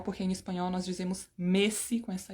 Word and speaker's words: Messi: pronúncia é igual Messi Bom na verdade a pronúncia não é exatamente igual porque em espanhol nós dizemos Messi com essa e fechada mas anyway This is